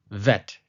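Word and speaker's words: וית: presence of the dot, so when it doesn't have a dot, it is called VET, as you see on the screen.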